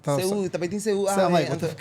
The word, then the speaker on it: Seú: I'm about to be educated on two things about Carnival in Curaçao and Seú, which is something.